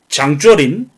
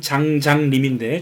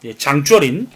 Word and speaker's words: 장쩌린: 그런데 일본은 이 만주 지역의 이 삼부를 탄압하기 위해서 당시 만주를 장악하고 있었던 군벌 장쩌린, 한자로는 장장림인데 중국 발음으로는 장쩌린, 이 장주어린과 조선 총독부 경무국장인 미스야 사이에서 이제 미스야 협정을 맺게 됩니다.